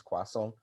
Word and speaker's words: croissant: And I had a total argument with my wife over how to spell, how to pronounce croissant, and I'm right.